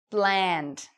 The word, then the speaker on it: bland: Bland. So it rhymes with and, bland.